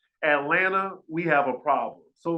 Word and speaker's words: Atlanta: properly pronounce his words it is Atlanta not Atlanta Atlanta Atlanta you see he can't even put the tongue at the roof of his mouth to pronounce his T's properly I'd be concerned about